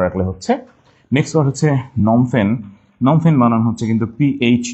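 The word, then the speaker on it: Phnom Penh: just ওইটুক মনে রাখলে হচ্ছে নেক্সট ওয়ার্ড হচ্ছে নমফেন নমফেন বানানো হচ্ছে কিন্তু পিএইচ দিয়ে হ্যাঁ নমফেন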